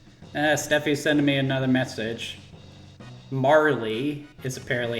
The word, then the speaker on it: Marle: Marley is apparently how it's pronounced.